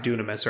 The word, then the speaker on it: Dunamis: It's pronounced Dunamis, right?